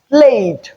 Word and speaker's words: played: So the d tongue a is a voiced sound. Hence we use the voiced form of the alvola plusive sound which is d. That's why we have played.